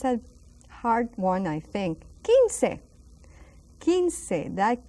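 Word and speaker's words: quince: hard one I think kin kin that Q the U and the I again so that U is silent kin not Quin but and we have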